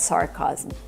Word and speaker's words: sarcasm: The word is not pronounced sarcasm. Sarcasm. She means sarcasm. We need a short a sound like black cat for the second syllable. Chasm. Remember this word has three syllables. Sarcasm. It looks like two syllables, but it's three.